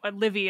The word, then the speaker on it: Livy: cons lus postumus from tius leevy or livey I don't know how you say it Tito Le we say Livy in most English I think so uh